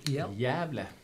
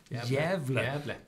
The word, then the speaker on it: Gävle: How it's called exactly? Gävle. Gävle. Oh, I always pronounce the G, so it's on Gävle. And outside Gävle is the village of Mackmyra, mm-hmm.